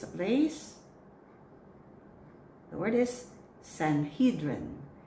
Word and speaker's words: Sanhedrin: The word is Sanhedrin. Sanhedrin.